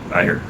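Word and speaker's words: Éire: When I come to Ireland, to Erie. How do you pronounce it? Erie? Ayr.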